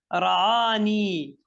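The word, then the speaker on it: رآني: Ra'ani. Ra'ani. Ra'a, not Ra'ini, Ra'a Ni. ni. Why? Because if I will say Ra'a, it is Ra'a, and I need to put as Ya.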